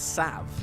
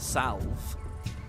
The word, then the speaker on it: salve: It's weird she says salve, not salve. Is that me being weird? I say salve with an L in it. Salve? Do you guys say it without the L?